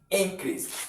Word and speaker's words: increase: Now as you are looking at it to be a noun you stress the first syllable which is in then the second syllable you don't stress it that now we have